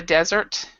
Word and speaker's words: desert: in the desert so this is Desert this is dessert and then to Desert means to abandon okay next one um